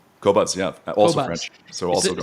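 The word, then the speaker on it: Qobuz: up for a service called cobz q o b z am I pronouncing it cobz yeah also French so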